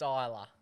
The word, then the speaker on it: Ajla: Try and pronounce that one. Ajla. Ajla. It's Isla.